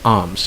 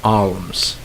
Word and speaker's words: alms: If you have A, L, and M in a word, the L is not pronounced. It's silent. Okay, for example, the first word, alms, like A-L-M-S, alms. You don't say alms. All right, you pronounce it as alms.